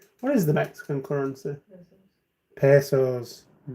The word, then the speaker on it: pesos: is the Mexican currency pesos is that how it's pronounced I've saying it wrong all these years yeah I've been saying Mexican Pedas instead of Mexican P what